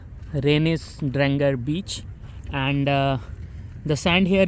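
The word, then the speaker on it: Reynisdrangar: Obviously my pronunciation is not Icelandic, but this is the best I can do. Renisdrangar beach.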